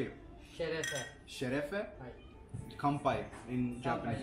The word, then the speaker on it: şerefe: Şerefe.